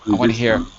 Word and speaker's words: resistant: Resistant. Repeat. Resistant. Resistant, yeah. There you go. Resistant. I want to hear all 3 syllables.